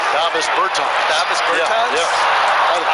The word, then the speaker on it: Davis Bertans: Oh, well, now, at this point in my life, it's Davos Bertans. Is that how you say his name? Davis Bertans.